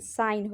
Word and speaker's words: sign: जी साइलेंट हो गया। चलिए दूसरा देखते हैं, दूसरा क्या है, SIGN साइन है।